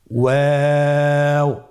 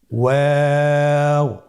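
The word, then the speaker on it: واو: আমরা স্ক্রিনে দেখতে পাচ্ছি ওয়াও হরফটি উচ্চারণের ক্ষেত্রে বারিক হবে এবং 3 আলিফ টেনে পড়তে হবে। আপনারা আমার সাথে বলুন ওয়াও ওয়াও। 2 ঠোঁট গোল করে মাঝখানে ফাঁক রেখে হরফটি উচ্চারণ করতে হবে।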